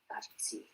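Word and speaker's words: 같이: Kachi. Kachi. And this one? Kachi. Kachi. So we already have used kachi so many times, right?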